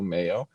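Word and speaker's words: Meyo: track at the boat believe it's pronounced the mayo invitational m-e-y-o mayo a women's tennis will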